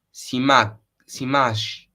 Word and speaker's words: Simaxis: Si scrive Simaxis, ma si legge Simash. Non lo so leggere, raga. Facciamo che non parlo sardo e si dice comunque Simaxis, facciamo così. Simasgis, non lo so pronunciare.